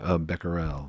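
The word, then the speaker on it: Becquerel: and you have a great story of the Beckel story if you wouldn't mind telling it. It's so interesting. Is that the And maybe I'm getting his name wrong. The uh the uranium photo. Oh yeah. Beckerel.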